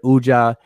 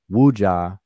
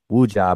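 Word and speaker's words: wedja: saneb that middle word ujja is really wuja they don't people don't pronounce the w wooja but is a status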